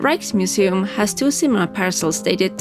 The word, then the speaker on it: Rijksmuseum: The Rijksmuseum (pronounced raiksmuseum) has two similar parasols dated 1840 to 1865.